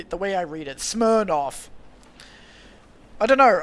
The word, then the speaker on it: Smirnoff: Smirnoff. I don't know. Like I in in my head I know that it's smiroff, but every time I read it I'm like smoff.